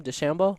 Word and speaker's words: DeChambeau: DeChambeau.